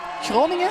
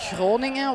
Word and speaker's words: Groningen: Groningen? Oh, yeah. That's not easy to pronounce. But I'm Flemish, so I say Groningen, while the Dutch will say Groningen.